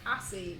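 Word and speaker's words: ASCII: I didn't know assy was like some kind of keyboard thing. So there's somebody in my chat who spelt like the keyboard thing. And I didn't know it's pronounced assy, and this entire time I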